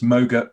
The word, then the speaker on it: MOGRT: that actually being um people said it's moga rhymes with yoga yeah that was the